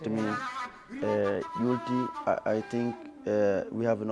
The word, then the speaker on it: Youlty: Some people doesn't know how to pronounce it. They say, Youlty. I say, Youlty.